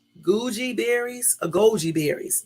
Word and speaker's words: goji: or try something new like Gucci berries a Goji berries g o j i okay I like